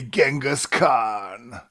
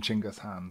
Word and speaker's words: Genghis Khan: he became a legendary Genghis Khan mispronounced by historians throughout the west but yeah if you go to Mongolia they still call him chinga's hand so I I guess that's probably the correct pronunciation okay but uh yeah